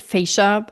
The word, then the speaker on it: fascia: It's fas fascia. Some pronounce it fascia. I prefer saying fascia.